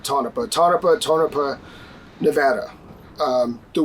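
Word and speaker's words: Tonopah: I am in tonpa I think you pronounce it tonopa tonopa tonopa Nevada um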